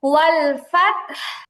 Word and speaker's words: والفتح: ওয়াল ফাত, والفتح ফাতেহ না, ফাত কলকলা নেই তার মধ্যে। ওয়াল ফাত, والفتح আর অল হবে না, ওয়াল ওয়াল ওয়াল ফাত।